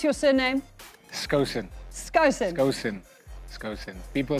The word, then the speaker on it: Skosan: People say Skosana, Skosan, Skosan, all of this funny stuff. I mean, I always have to take it off the list when I get a tracker for my car. People will pronounce it. I'm speaking to Mr. Skosana because they think I took something away. So it's Skosan.